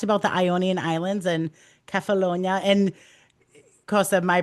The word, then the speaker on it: Kefalonia: Then he talked about the Ionian Islands and Kefalonia. And Kosta, my pronunciation may be way off, so please don't be Your afraid to pronunciation is correct me. beautiful. It's spot on. Okay, It's Kefalonia.